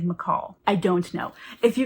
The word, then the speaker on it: Michal: I don't know why, but my whole life I've always said Michael. I've always thought her name was Michael, but then I heard someone else pronounce it. They said McCall.